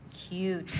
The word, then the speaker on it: cute: starting at the top cute cute three sounds three phones C oot cute and slip that e on the end because it's vow consonant e long vow sound there and mu m m